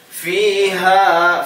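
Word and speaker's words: فيها: Fiha sururum marfu'ah. Fiha fi panjang, pengucapan fi panjang, kasroh, kemudian depannya ya sukun panjang. Fiha ha panjang.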